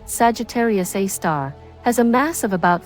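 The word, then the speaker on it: Sagittarius A*: Center this black hole known as Sagittarius A asterisk pronounced Sagittarius A star has a mass of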